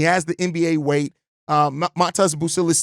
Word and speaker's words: Matas Buzelis: the NBA weight uh Matas buil is to me or mest busis I'm still adjusting my brain and saying it correctly mest bucillis um he need he